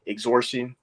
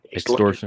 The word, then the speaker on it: extortion: starts with an E exhortion I think I'm saying it right is it exhortion extortion yeah yeah like extortion and many things of